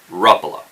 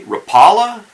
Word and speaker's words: Rapala: the conclusion I came to is the correct pronunciation is Ruffalo okay rattle is pretty close but if you say Rapala in front of the finns they're just gonna